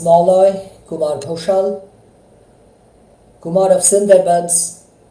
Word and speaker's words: Sundarban: This is Malloy Kumar Ghoshal, Kumar of Sundarbans, pronounced Sundarban in Bengali, addressing you live on this Christmas Day, the 25th of December of the Gregorian year 2022.